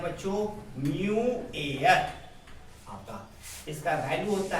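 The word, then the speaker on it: mu: और refractive index ऐसे भी लिखते हैं, उसको डिनोटेड करते हैं, denoted by denoted by म्यू, इसको प्रोनाउंसिएशन करते हैं म्यू।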